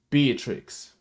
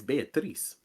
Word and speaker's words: Beatrice: Before anything, for the last 2 weeks of this show, I have been saying and voting Beatrix out of this villa. Why you say it like that? It's Beatrice.